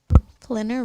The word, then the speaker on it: Flinner: Flinner rhymes with dinner.